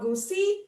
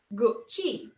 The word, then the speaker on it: Gucci: your head right now it's not gucci it's not goosey it's not gurky it's gucci gucci this one makes you